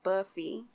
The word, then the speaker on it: Buffy: We got my girl, Buffy. I said it right? Yes, it's Buffy.